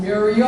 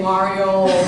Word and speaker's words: Muriel: It's Muriel. A lot of people like pronounce it wrongly, say Mario, Mario, whatever, but it's Muriel.